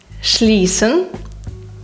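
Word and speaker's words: schließen: далі наступне в нас сцх сцх разом читається як ш наприклад шлісн це зачиняти Та дішуле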